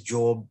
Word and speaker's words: Job: um i wonder why the pronunciation is job instead of job you know because when